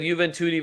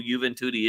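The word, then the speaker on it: Juventus: And the only reason that some of you are still here and know who Juventi is is because their name rhymes with Booty.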